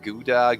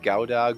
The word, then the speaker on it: Gouda: I don't even know how you pronounce that. Gouda, Gouda, Gouda.